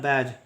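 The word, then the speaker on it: badge: उच्चारण करते हैं बैज इसका उच्चारण होता है बैज ठीक है बैज का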